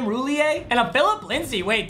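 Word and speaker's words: Roullier: 93 though we get is it chase roulier is how you say his name roulier and a phillip lindsey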